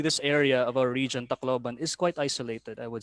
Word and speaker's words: Tacloban: something like that and another peculiar thing about tacloban is that the the we accent in the third syllable abukai sakkahan i saw